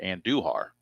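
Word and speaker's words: Andújar: I think it's pronounced Anduhar.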